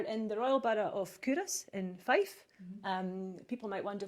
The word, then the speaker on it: Culross: Curus. Curus. People think it's called Culross because that's how it's spelled, but it is the